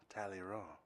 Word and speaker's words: Talleyrand: Talleyrand. Yeah, the D silent.